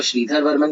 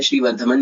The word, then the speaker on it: श्रीधर वर्मन: अगर आप इसको श्रीधर वर्मन कहेंगे तो ज्यादा बेटर है, कई जगह जल्दी में और प्रोनाउंसिएशन में श्रीवर्धमन भी बोल दिया जाता है, लेकिन इसका सही जो सेंटेंस होना चाहिए, सॉरी वर्ड होना चाहिए, वो श्रीधर वर्मन है।